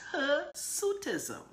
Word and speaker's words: hirsutism: it you know it's her suit ism that's the that's the pronunciation her suit is Oh